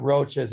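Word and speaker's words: Roche: don't know the roaches it's not roaches in the insect it's their last name and it's spelled r-o-c-h-e yes uh the roaches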